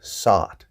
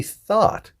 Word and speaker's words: thought: same kind of mistake people are saying this th word thought but they're saying it with an S sound sawed and sawed is a different word it's the past tense